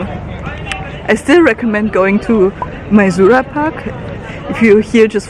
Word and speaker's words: Maizuru: And funny enough, we walked past Maizuru Park, and yes, it's Maizuru.